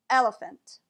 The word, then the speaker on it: elephant: elephant in this word the second and third vowels are both pronounced as a schwa the second vowel is